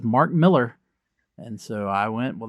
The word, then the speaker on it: Millar: Uh I believe in earlier episodes when we started promoting this, I was saying Malar, which is what I have always said. Yep. But we we just found out it's Miller.